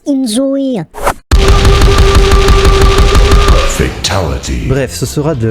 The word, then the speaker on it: inZOI: Actually, ça se prononce enjoy.